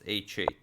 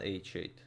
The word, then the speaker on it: h8: I'm pretty sure it's h8, since it always rhymes with mate.